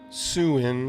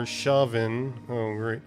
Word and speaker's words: Samhain: The Celts of Ireland, known as the Gaels, celebrated a festival in November called Samhain on Samhain, pronounced Suin or Shavin, meaning end of summer.